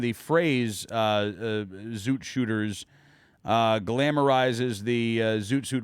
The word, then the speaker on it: Zoot: The Zoot era really does date back into the 30s. So it rhymes with shoot.